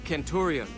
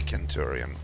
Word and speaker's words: Centurion: I mean, they're not that off, though, because in Latin, the Romans actually spoke like that. They used a hard C for everything. Like, they did say Caesar, they did say Centurion. It's like only in later times where we have more or less anglified it into a soft C.